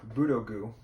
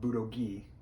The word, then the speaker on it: Budogu: terrible so yamano sakura nippon budogu not budoki these are starter keys